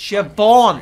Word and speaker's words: Siobhan: Siobhan, So it's we're a B, releasing not a in B. 2018. Right? It's spelt with a So B, but it's we're- pronounced with a V.